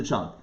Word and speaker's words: cholent: But you would say cholent because it comes from the Yiddish.